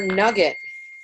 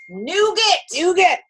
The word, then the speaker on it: nougat: There's your nugget. Nougat. It's nougat, damn it.